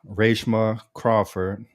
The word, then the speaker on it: Reshma Crawford: And today's guest is Rashma Crawford, a writer and producer um for National Geographic, Hulu, and much much more.